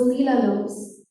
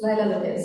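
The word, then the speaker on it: Leila Lopes: This was perhaps 2011-12 sometime, who was Leela Lopes. And sorry? Yes, Laila Lopez, sorry about my mispronunciation.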